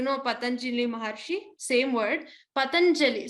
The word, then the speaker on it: Patanjali: Patanjali. So here ja has to be stressed upon.